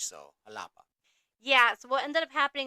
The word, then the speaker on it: Jalapa: they were going to jalapa so we were saying the J in English however this is a capital city in Mexico so it's pronounced like an H so alapa yeah what ended up